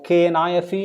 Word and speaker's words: knife: so black only one of those two is pronounced ck black if you see the word k-n-o-w or k-n-i-f-e knife or k-n-o-t or k-n-e-e k-n-o-w no okay